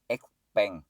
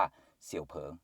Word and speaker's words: Xpeng: ที่ เรา เห็น กัน บาง คน จะ ออก เสียง เรียก ว่า xpeng นะ ครับ อัน นี้ ก็ ไม่ ผิด นะ แต่ ถ้า เรียก ให้ ถูก ก็ คือ เรียก ว่า เสี่ยว เผิง นั่น เอง นะ ครับ เรียก